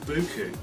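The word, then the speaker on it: buchu: But the best thing for actually treating them, instead of going the antibiotic route, is a herb called buku, which is spelled B-U-C-H-U.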